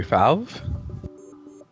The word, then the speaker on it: Faov: You can call me Faov.